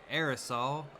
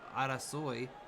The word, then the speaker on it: arasoi: Instead of saying aerosol, Arasoi.